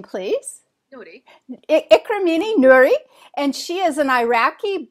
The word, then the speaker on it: Noori: you say your last name please Dy cini Nuri and she is an Iraqi born Swedish um